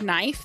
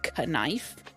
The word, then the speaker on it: knife: you you can't like the word knife the k is silent you don't say knife what they're silent letters